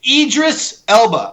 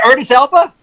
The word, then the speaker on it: Idris Elba: idea by the way it's idris elba i don't know how you pronounced his name but you pronounced it i thought that was it's not artist alpha earnest he's not a german goddamn aryan nation sauerkraut he's it's idris idris elba not earnest i actually